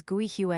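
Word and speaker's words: 桂花: Osmanthus flower is pronounced as Gui Hua in Chinese, with Gui meaning Osmanthus and Hua meaning flower.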